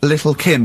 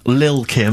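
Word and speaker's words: Lil' Kim: it's a track by Little Kim but how are you pronouncing it I'm pronouncing that correctly Lil Kim oh no T's involved and it's a jump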